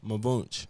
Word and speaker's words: Mvnch: Munch. Okay. Okay. What where you get that from? Well it's it's pronounced a lot of people just call me Munchch.